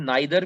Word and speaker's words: neither: अब इसको कुछ लोग नाइदर पढ़ते हैं, कुछ लोग नीदर पढ़ते हैं, ये आपके अपने ऊपर है। चाहे तो आप स्टैंडर्ड प्रोनाउंसिएशन चेक कर सकते हैं यूट्यूब पर, ब्रिटिश प्रोनाउंसिएशन क्या है आप वो यूज कर सकते हैं।